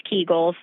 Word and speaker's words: Kegels: And you are saying it correctly, it's Kegels.